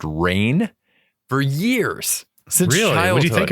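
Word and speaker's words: Rahne: was finding out that wolf Spain's name is pronounced rain for years since childhood think it I thought it was Ron it's r a h n e the whole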